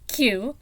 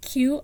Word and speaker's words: Qiu: of fun trying to figure out how to pronounce it. Qiu, Qiu, Xiaolong, Xiaolong.